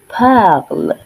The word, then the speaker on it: parle: Je parle. Je parle. Tu parles. Tu parles. Remember, in French, we do not pronounce the last consonant in a word.